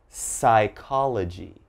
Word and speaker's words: psychology: here but okay so as you notice ps is very common but don't say the p all right so just one